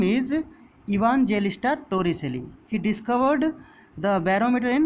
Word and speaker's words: Evangelista Torricelli: Okay, his name is, see, it is given, it is pronounced as see, let me pronounce it. His name is Evangelista Torricelli.